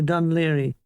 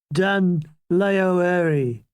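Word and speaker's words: Dún Laoghaire: The mildew dawn haunted us into Dunleary. Dunleary. That's the proper pronunciation. None of that Gaelic crap, said Hall.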